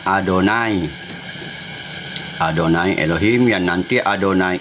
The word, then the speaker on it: Adonai: Adonai itu cara membaca yod, he, wau, he dalam bahasa tulisan Ibrani itu yang empat huruf tetragram itu tidak bisa dibaca karena huruf mati. Jadi, bangsa Israel pengikutnya Musa membacanya Adonai.